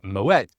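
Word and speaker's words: Moët: thinking that I'm pronouncing Moet wrong. I have checked this on the Moeta Shandon website and I can confirm that the T is pronounced with a hard T. And that's because the name Moette is actually Dutch.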